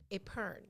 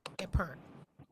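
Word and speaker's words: epergne: spelled sounds hard but it's a french word so there's a lot of silent stuff going on in here it is pronounced a pern spelled e-p-e-r-g-n-e but pronounced a perm it is an ornamental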